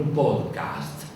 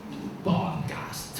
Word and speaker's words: podcast: inventaron el tipo el podcast pod cast hay que pronunciarlo así podcast Qué es es un